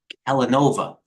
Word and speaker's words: Kellanova: The former Kellogg, now named Kellanova. I don't know why they did that. It rhymes with Villanova.